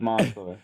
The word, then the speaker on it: Mansour: So, I know it's pronounced spelled with an A. So, it's people probably say Mansour, but it's kind of almost like it's pronounced with spelled with an O, like Mansour.